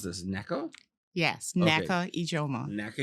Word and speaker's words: Nneka: How do I pronounce this? Nneka?